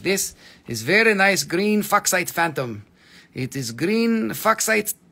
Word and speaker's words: Fuchsite: Okay, look, this is very nice green Fuchsite Phantom.